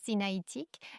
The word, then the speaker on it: sinaïtique: Alliance sinaïtique, c'est bien ainsi qu'on le prononce. Alliance sinaïtique.